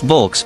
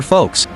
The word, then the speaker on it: Volks: The people's car though it's not pronounced vulks but rather folks.